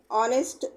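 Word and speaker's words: honest: చూసారా ఎగ్జామ్పుల్స్ అన్నమాట hour హానెస్ట్ ఎయిర్ పదాల్లో హెచ్ సైలెంట్ గా ఉంటది హవర్ అనో హానెస్ట్ అనం అన్నమాట అవర్ హానెస్ట్ ఎయిర్ అనే హెచ్ సైలెంట్ గా వాడతాం రెండో అక్షరం అయినా ఓ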